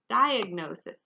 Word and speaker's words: diagnosis: get completely better diagnosis diagnosis again here we do say the g so you're probably thinking